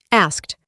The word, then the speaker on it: asked: La forma de ask en pasado simple es asked, pero en la pronunciación reemplazamos la D por una T, asked, y la K no se pronuncia tan fuerte como anteriormente.